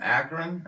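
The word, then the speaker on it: Akron: says just the kid from akan I think is how it's pronounced akan Ohio I know that's where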